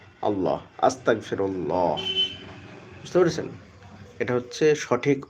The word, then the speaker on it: আস্তাগফিরুল্লাহ: আলিফ scene তা ওই ফা র আল্লাহ আস্তাগফিরুল্লাহ। বুঝতে পেরেছেন? এটা হচ্ছে সঠিক উচ্চারণ।